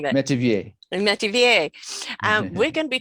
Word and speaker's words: Metivier: Metivier, how am I pronouncing that? Metivier.